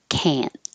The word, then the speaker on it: can't: the same position so you're just not releasing the T if you did it would sound like I can't I can't and we don't usually pronounce the the t's at the ends or any of the plosive sounds like um K and Crete so we're holding the T and it sounds like an N can't but when you are